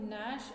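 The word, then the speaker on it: gnash: का मतलब होता है यहां जो है जी जो है वो साइलेंट है जी इज साइलेंट तो नश का मतलब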